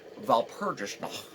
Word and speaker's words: Walpurgisnacht: This is where my pronunciation is pretty bad. But it's Walpurgisnacht. Okay, which is German.